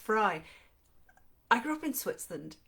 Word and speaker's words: Frey: yes fry yes just said it's pronounced fry i grew up in switzerland and there's very lovely chocolate delicious chocolate called the manufacturer is the name is fry f-r-e-y but i would